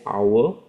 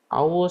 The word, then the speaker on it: hour: Because the H is silent. So you just look at here. He says hour. So hour starts with a vowel which means okay it cannot be the anymore.